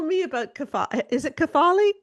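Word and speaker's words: κεφαλή: Is it Kathali? Kafali. Kath. Um, I pronounce it carefully. Carefully. There's different schools. So, there's even different schools of thought on how to pronounce ancient Greek, but I prefer carefully.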